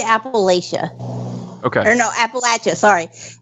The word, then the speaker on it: Appalachia: But I made a post that apparently people pronounce Appalachian wrong, and it said if you pronounce it Appalachia, I'll throw an apple at you.